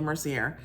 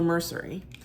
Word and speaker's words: Mercier: that you pronounce it I was saying L Mercier it's l mercery but these are a